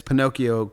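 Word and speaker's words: Pinokio: an app called Pinocchio uh p uh it's Pinocchio K IO so it's spelled p o p o n i k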